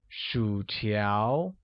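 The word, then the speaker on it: 薯条: let's take a look french fries translates as Shu tiao which uses a falling rising tone on you and amid rising tone on a making it Shu tiao good chicken wings becomes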